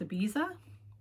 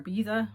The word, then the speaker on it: Ibiza: This is another Malabrigo worsted, and the colorway is called Ibiza or Ibiza. Some people pronounce it either way, but it needs soak.